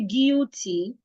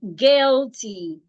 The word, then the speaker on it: guilty: So if I have a word like this, the u and I in this word also sounds e. So I should not say guilty. It is guilty.